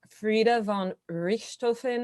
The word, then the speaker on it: Frieda von Richthofen: So we have Frieda von Richthofen. Am I pronouncing that correctly? That's right.